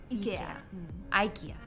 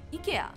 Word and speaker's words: IKEA: okay all right yeah so it's ee ikea but in swedish pronunciation it's actually ikea oh yeah in korea